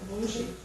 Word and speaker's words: manger: Eita, manger.